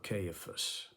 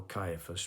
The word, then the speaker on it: Caiaphas: when he was before cifas or Caiaphas depending on how you want to pronounce it uh the chief priest